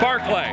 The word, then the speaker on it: Barclay: Barclay. Barclay? Yeah. B-A-R-C-L-A-Y? Yeah, as in place you get drunk and stuff pottery is made of.